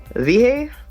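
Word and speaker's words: Wiehe: history, was born in Vihe, Saxony, Holy Roman Empire. Yeah. Huh. I pronounce the W's with a V if he's German, so.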